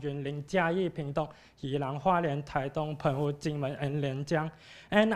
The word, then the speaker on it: Taitung: And the other one is Taitung. Dong, T-U-N-G, Dong is the Chinese pronunciation of this Chinese word, and this